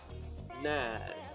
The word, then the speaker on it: när: Let's see, when, när, so the letter A with two dots, it's called A, and is pronounced as if you are saying the sound A, and then without moving the mouth, keep the mouth right there, and then try to say the sound E without moving the mouth from A.